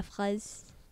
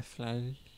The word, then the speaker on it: fraise: in French, it's la fraise. Le flage. This week's hard. Le flage. Kind of sounds like you're saying le flage, Which means... I feel like I'm saying what nothing. you're saying. but it's le plage is beach. Oh. The beach. Le fraise, it's FRAISE. Le Fraise.